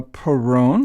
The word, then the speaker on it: Perron: uh today uh we invited uh Keith uh Peron I believe that pronunciation is that correct ke that's correct yes